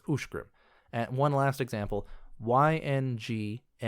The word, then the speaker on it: Uscgrim: The name USCGRIM is Ushgrim. The CH in there turns into a sh sound. It looks like it should be pronounced Usgrim, USCGRIM, but it's not pronounced Usgrim, it's Ushgrim.